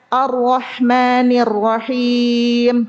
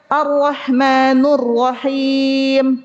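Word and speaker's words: الرحمن الرحيم: Misalnya baca arrahmanirrahim. itu nunnya kan arrahmani kasrah. Tapi kalau dia baca arrahmanurrahim pakai domah itu masuk kesalahan jali merusak makna ya.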